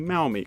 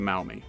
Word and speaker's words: Maumee: Now, this Miami River was later renamed the Maumee, close to the original Shawnee pronunciation.